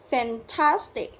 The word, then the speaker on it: fantastic: Fantastic, fantastic. Ok, rồi chú ý là từ cuối cùng nhấn trọng âm và âm tiết thứ hai.